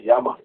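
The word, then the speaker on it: llama: this particular animal called Yama. Yama or Lama. Lama or Yama, they spell it.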